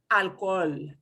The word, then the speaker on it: alcohol: really fun word yes alcohol is pronounced alcohol so is it three syllables it is three syllables alcohol and it's really hard